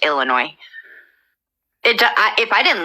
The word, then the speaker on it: Illinois: you ask I everyone that doesn't live here pronounces it Illinois with an S so I say it to to mock that kind of but it's it's a silent ass it's Illinois it I if I didn't live here I